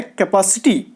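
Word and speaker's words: capacity: तो दोस्तों, नोटिस कीजिएगा कि कैपेसिटी को लोग अक्सर गलत बोलते हैं। इसका जो राइट प्रोनाउंसिएशन है वो है कैपेसिटी।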